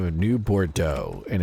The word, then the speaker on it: Bordeaux: So, New Bordeaux is spelled like B O R D E A UX. So, that's like the only only way I know that pronunciation slightly or at least what it's supposed to sound like is because of that town, Bordeaux.